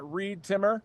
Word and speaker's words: Reed Timmer: You can follow me on social media at ReedTimmer rhymes with weed trimmer.